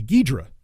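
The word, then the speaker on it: Ghidorah: I was a kid I said King gadora too right but I learned later on that really the pronunciation should be gidra okay and that's or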